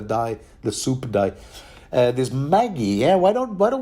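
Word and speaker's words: Maggy: magic the the dye the soup die this Maggie yeah why don't why don't we pronounce it Maggie from now on for reasons that will become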